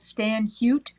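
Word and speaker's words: Stan Hywet: i think it's called stan hute h-y-w-e-t or it might be hot anyway for their needlework chapter it's stan like stanley h-y-w-e-t and if you go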